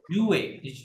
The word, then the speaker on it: jouer: দেন পরেরটা হচ্ছে কি যোগ রাইট যোগ jouer মেইন ভার্বটা হচ্ছে কি উচ্চারণ হবে Jouer.